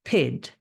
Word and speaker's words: pyt: It's pronounced PID and spelled PYT.